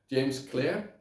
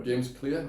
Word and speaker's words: Clear: learning new habits and I would definitely recommend James Clare or James Clear I think it's pronounced he's the author of atomic habits and